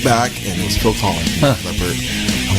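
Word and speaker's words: Collen: had a guest, Phil Collin, right? Mm-hmm. That's how you say his name? Yeah. I sure didn't want to say Colin.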